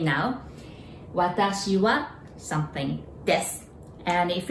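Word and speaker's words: わたし: And now I in Japanese, it's watashi. There are three sounds, watashi, all right?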